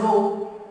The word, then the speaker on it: rho: This is pronounced as rho.